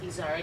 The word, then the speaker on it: Izard: keep name the goats my last name in french so eyes are but in french it's izzard and it's a mountain goat that lives in the pyrenees mountains so if you look up izard mountain goat you can